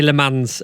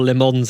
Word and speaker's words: Le Mans: those OG podcast listeners I can now I don't say Le Mans or lemons anymore limo limo yeah I could say it lemon yeah um I hope